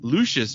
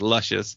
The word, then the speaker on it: Lucius: of former basketball player Lucius Jackson after the band members heard the announcer on ESPN sports center mispronounced Jackson's first name as luscious and thought it would